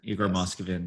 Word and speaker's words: Igor Moskvin: Oh, also, we should shout out the death of Igor Moskvin. Did I say his name right? Yes. Yeah, Igor Moskvin, yes.